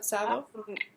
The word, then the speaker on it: Tsavo: Is that how you pronounce it? Exactly. Tsavo.